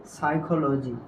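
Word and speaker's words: psychology: সাইখো এরপরে এইটা দেখো এটা কি হবে বলতো সাইকোলজি এরপরে এটার উচ্চারণ কি হবে বলতো সৌরা আশা করি এই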